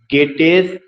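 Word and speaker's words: Goethe: Next है गेटेस एल्कोनी, GEOTHE, इसका pronunciation गेटे होता है, गेटेस एल्कोनी, ERLKONING, KONIG।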